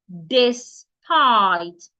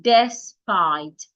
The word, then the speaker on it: despite: The letter E there sounds I despite. It is not despite.